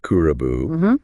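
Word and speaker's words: クラブ: which itself came from the Japanese word kulkura, pronounced kurabu, which ultimately is borrowed from English.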